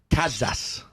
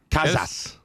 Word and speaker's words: Kaszas: Kaszas. Kaszas. That's great. Yeah? That's great. You're close to the original. That's like the Hungarian pronunciation.